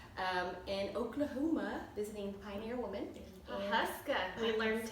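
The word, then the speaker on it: Pawhuska: Huska.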